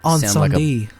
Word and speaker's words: Incendies: I love this one, and it is, I'm going to do the, French pronunciation, Incendies.